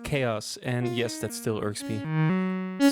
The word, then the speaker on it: Xaoc Devices: let's look at chaos devices sadar or zadar whatever yeah company's name is pronounced chaos and yes that's still